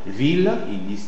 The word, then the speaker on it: ville: En fait on dira l'île tranquille antiatomique ville inle basile codicile antialcoolique gile.